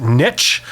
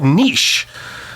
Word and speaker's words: niche: And if you are living in other areas of the former British Empire, like Canada or anything, you would call it niche. So if you're wondering how you say that word, that's how you say it.